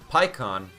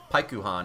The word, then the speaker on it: Paikuhan: Pikkon, or Paikuhan if you're going with the Japanese pronunciation, is also in this movie, so I'm going to scale him.